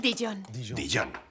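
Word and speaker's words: Dijon: verde empecemos con una buena cucharada de dillón pronuncia dillón d dillón un poquito de miel me encanta la miel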